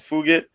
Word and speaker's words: Fugit: The way it's spelled is like it sounds like F it, but yeah, it's Fugit.